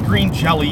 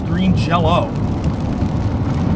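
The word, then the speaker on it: Green Jellö: pronounce the name correctly it's not green jelly it's green jello the why the why with the two dots above it is supposed to be oh because of you know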